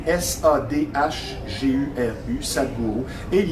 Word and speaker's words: Sadhguru: Ça s'écrit S-A-D-H-G-U-R-U, Sadhguru.